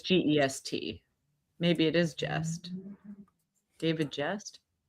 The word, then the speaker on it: Gest: Is it just or guest? I think it's pronounced guest, but it's gest.